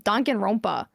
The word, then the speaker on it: Danganronpa: Pronounce it Danganronpa. correct.